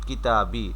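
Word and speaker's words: كتابي: উচ্চারণটা এরকম হবে। কিতাবি অর্থাৎ কিতাবুন এখানে দুই পেশ ছিল।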